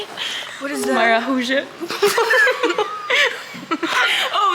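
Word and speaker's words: maracujá: Maracuja. How do you say it? What is that? Maracuja.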